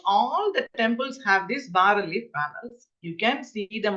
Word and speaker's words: bas relief: It is written bas relief but pronounced as bas relief, mid relief and alto relievo, depending on the depth.